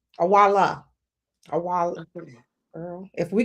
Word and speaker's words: Iweala: Ngozi Okonjo-Iweala. Awala. Awala. Okay. Girl. If we can say Schwarzenegger, we can pronounce our African brothers and sisters' names, okay?